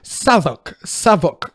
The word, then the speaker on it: Southwark: You know the British like call it Southwark. That's how to pronounce it.